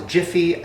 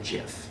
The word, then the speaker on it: Jif: is GIF peanut butter which I always thought was Jiffy I feel like everybody else thought it was Jiffy I mean Jiffy peanut butter Jiffy Jiffy like that's how I remember it no it's always been GIF and the last one